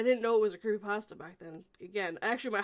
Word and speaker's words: creepypasta: really and i didn't know it was a creepypasta back then again actually my husband hates the